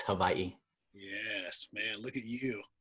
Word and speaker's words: Hawaii: W's are pronounced like a V. There's a tip right there. There's a tip. Tip. It's not Hawaii, it's Hawaii.